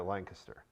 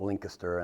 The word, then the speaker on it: Lancaster: there lancaster well there's some people call it lincuster and i go well it's spelled with a's so i don't know why you're calling it lincaster but it's lancaster if you look at it that's what i've called it so you got